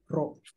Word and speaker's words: rho: Jadi biasa ini dibacanya begini, rho.